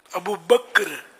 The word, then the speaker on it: ابو بکر: ابو بکر.